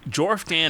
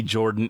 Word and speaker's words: Jorfdan: Jorfdan is Jorfdan. I don't care if you want it to be Jordan. It's Jorfdan. That's how you spelled it. That's how I will pronounce it till I die.